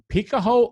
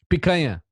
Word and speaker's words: picanha: Picaho u mamaha? Picanha. Okay. And Picanha ou maminha?